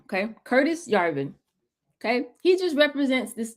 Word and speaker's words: Yarvin: Yarvin. Y A R V I N. Okay, Curtis Yarvin.